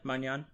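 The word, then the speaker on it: Maignan: And then they had Musiala at center forward with the French goalkeeper, Mignon. Is that how you pronounce his name? Yeah, Magnan.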